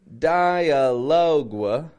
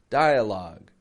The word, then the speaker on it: dialogue: that come from French notice I'm not saying dialoga like loga you know I'm not pronouncing that uee just a log log dialogue dialogue is of course a